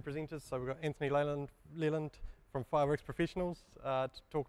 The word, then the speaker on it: Leland: So my name's Anthony Leland, for those of you who don't know, and Leland rhymes with New Zealand, and it's spelled almost the same way.